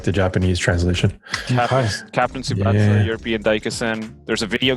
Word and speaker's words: Tsubasa: Tsubasa.